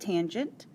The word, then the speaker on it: tangent: Tangent of angle A can be simplified to just tan. That's how you'll see it in your calculator, still pronounced tangent.